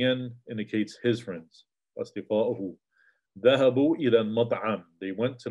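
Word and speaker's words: ذهبوا: the sound basically, and you have an aleph that's not pronounced. So both the wow and the aleph have, you could say, have a sukoon on them. Dhahabu, dhahabu, right? And so it won't change the sound.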